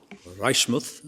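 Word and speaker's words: Reichmuth: position of uh Reichmouth Reichmouth as I'm told it's pronounced uh and the late redeemers.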